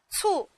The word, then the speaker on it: 促: 促，平舌音，声母是 c。